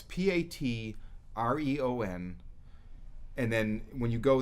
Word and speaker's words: Patreon: They have I found out how to pronounce it. It's Patreon.